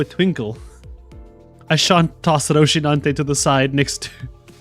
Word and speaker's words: Rocinante: How do I pronounce this? Riconante. Rocinante. Rocinante? I like this name. I want to pronounce it right. Is it Rico? Al Riconante. Oh, it's Rocinante.